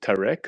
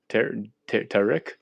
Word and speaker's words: Tariq: Yo, is it pronounced Tarek or Tariq? Yeah, either way you want to pronounce it.